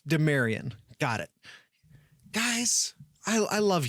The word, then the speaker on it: Demarion: Oh, mare like a horse. Demarion.